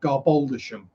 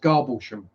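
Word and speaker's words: Garboldisham: you see it spell it's spelled garboldishum it's pronounced garbochum uh costa c is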